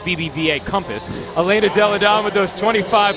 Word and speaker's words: BBVA Compass: brought to you by BBV Compass usually it's pronounced BBVA Compass Elena delodon with those